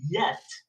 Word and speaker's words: yet: j so for example yet yet a lot of Spanish speakers say jet yeah but jet in English is another word so you listen to